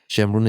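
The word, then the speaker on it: Shemiran: How do you spell it? S H E M R O N. Okay. Yeah, Shamun is a neighborhood in Tehran.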